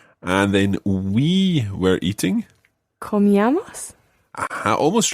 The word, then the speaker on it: comíamos: Comíamos. Aha, almost right. Just watch your stress here. The stress is on the E. So comíamos. Comíamos. Just like tomábamos.